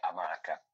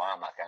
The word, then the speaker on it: amaca: Tipo che ne so, adesso faccio l'esempio amaca o amaca, cioè la corretta pronuncia è amaca. Però quante volte noi magari diciamo amaca, non so, Si sente dire, sì.